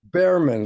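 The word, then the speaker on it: Bhaerman: Bareman. Like a bear.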